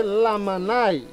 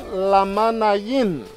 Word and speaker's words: Lamanai: So they say Lamanai, but the correct pronunciation, Lamanayin, submerged crocodile, okay?